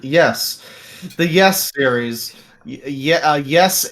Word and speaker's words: Ys: I've been playing the game, the very long running Ease series, YS, because Yes. that's spelled and pronounced weird. Yes, the Yes series, Yes 8 Yeah.